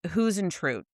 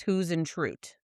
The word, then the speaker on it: Huisentruit: Huisentruit was how she pronounced it, so that's how I'm going to pronounce it. I Okay. know how Hausentrout was some ways, or who's it. Her phonetic saying was Huisentruit.